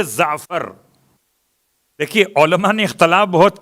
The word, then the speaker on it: جعفر: اصل لفظ جعفر ہے. جعفر کا تلفظ ہے زعفر.